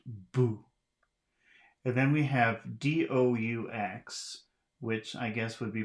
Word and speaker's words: doux: Doux. Do, D-O-U-X, do. The X is not pronounced.